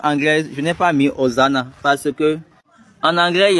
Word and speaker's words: Hosanna: C'est peut-être c'est le prophète ou bien la prophétesse qui donnait et la révélation qui disait Oziana. Ce n'est pas Oziana, c'est hosan. Hosanna.